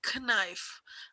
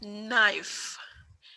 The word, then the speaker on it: knife: knife k-n-i-f-e it's not knife i have already told you in previous lectures that whenever k comes before n the sound of k is silent silent means you will